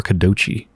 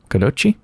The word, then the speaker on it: kodachi: When you pronounce that, is it Kadoki or Kadochi? Kodachi? Kodachi?